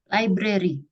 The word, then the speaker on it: library: Library. Ah? Library. Oh, lie. Bacanya lie ya?